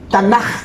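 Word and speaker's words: Tanakh: Hurufnya Taf, Nun, Had, Qaf, dan Hai. Jadi tanah bacanya gitu.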